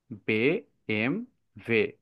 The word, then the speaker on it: BMW: জার্মানরা তাদের নিজেদের এই গাড়িটাকে বলে বেম ভে বে এম ভে যেমন হচ্ছে ভেতে হয় ভাসা ভাসার অর্থ ওয়াটার